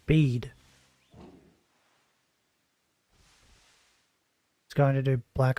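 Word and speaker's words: Bede: spelled word wait what pronounced the same as the English dictionary word bead why didn't you just spell it bead then why I spell it that way so his name is pronounced bead he going to do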